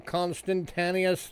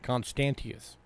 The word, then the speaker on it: Constantius: to 36 6180 Rome constantinus II Baron FIS 35 bucks to Richard constantius there we go that's how you say it constantius all right and the